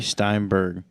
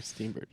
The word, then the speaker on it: Steenburgen: And Mary Steinberg. Mary Steenburgen. Oh, I'm sorry, I pronounced her last name wrong.